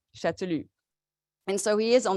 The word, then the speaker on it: Chastellux: pronounce his name and especially not to pronounce the s or the X chatulu and so he is